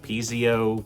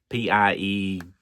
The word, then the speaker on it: piezo: Piezo pickups is how I say it. P-I-E-Z-O. I think I've heard some people say Piezo, or Piezo, but I say Piezo.